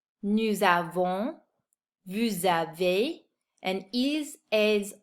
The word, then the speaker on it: nous avons: If you notice, I'm pronouncing the S at the end of these words because they're followed by a vowel. In French, we call that the liaison.